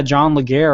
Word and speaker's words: Legere: And yeah, John Legere, or John Leger, again, another CEO with 2 pronunciations of his name, basically said, we don't need to be bought by someone to be successful.